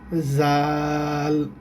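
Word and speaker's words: ذ: নাম হচ্ছে দাল আর দালের উপরে যখন এক মুক্তা থাকে তখন হরফটার উচ্চারণ হবে জাল জাল তখন হরফটার উচ্চারণ হবে জাল আচ্ছা এখন দেখেন দাল আর এই যে এই অক্ষরটা অনেকটা একরকম।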